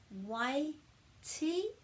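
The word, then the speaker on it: Waitī: cluster so we've got wai ti and wai and it's a really good um example of the different pronunciation of the letter t so y we're putting a break after the each vowel e turns and you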